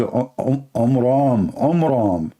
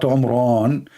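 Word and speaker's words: Amram: So it's the father of Moses, his name is Omram. not Umran. So he changed the last letter with letter N instead of M, which means it used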